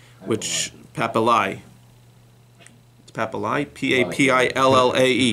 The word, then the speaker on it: papillae: The pouch has like these little thing called papillae, which papillae. Papillae, P-A-P-I-L-L-A-E.